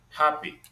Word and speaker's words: happy: So slender, clever, happy. So these words they're stressed on the first syllable.